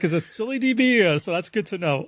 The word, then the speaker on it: ScyllaDB: right uh so but it's silly DB kind of like silly but with an a at the end sacility B is the